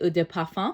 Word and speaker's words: Eau de Parfum: So the next here is actually Eau de Parfum, which, if you're saying it correctly, is actually Eau de Parfum.